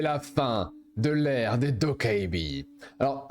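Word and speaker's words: 도깨비: Alors, à savoir que je dis Dokkaebi parce que vous m'avez dit en commentaire il y a un certain temps que de le prononcer de la véritable manière qui est Tokkebi, parce que c'est comme ça, normalement ce sont des Tokkebi, c'était pas plaisant apparemment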